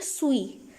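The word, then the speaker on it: suis: speaker है तो आपको लगेगा स्विस लिखा हुआ है हालांकि ये अगर फ्रेंच में इसको देखा जाए तो हम इसको प्रोनाउंस करते हैं सुई सुई और सुई का मतलब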